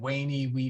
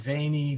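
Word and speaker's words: veni: it written this way and Caesar would have said Wayne Wiki but Pope Benedict would have said veiny vidi Vichy uh wita Caesar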